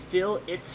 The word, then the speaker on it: fillet: Fillet is pronounced fill its for round and corners. Fillet is pronounced fillet as food, I think. I would like a nice fillet on my 3D model.